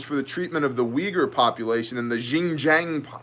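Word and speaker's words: Uighur: against Chinese officials for the treatment of the Weger population and the Jing Jing province Jinjiang province hi I'm too white to say that word by the way we ger is spelled UI g hu r so if you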